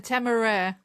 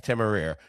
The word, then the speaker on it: Temeraire: It feels a little shapeless also, while the lines on how do you pronounce it? The Temeraire. The Temeraire.